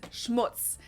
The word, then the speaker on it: Schmutz: on my list is Schmutz this one is pronounced and used the same way in both languages and it means dirt